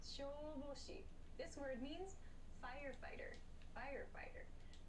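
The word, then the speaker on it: 消防士: Shoboshi. This word means firefighter. Firefighter. So make sure this oop and this oop, these long sounds, are clearly pronounced. So not shoboshi, but shoboshi to exaggerate.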